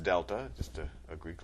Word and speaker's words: delta: over change in X that triangle which is pronounced Delta just a a Greek letter that means change